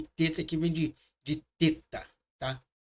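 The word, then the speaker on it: ט: O TET é transliterado por um T com um ponto embaixo, para diferenciá-lo da letra TAL, que será vista mais adiante e tem o mesmo som, que ele é muito parecido.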